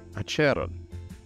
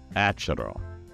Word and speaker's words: Acheron: And this is one that literally has lots of correct pronunciations. ACHERON. So most people settle on that first one. All of them are correct. ACHERON. Whatever you want. ACHERON.